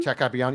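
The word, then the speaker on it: Capuano: Jack Capiano.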